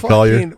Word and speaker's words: Collier: Collier? Yeah, Jake Collier.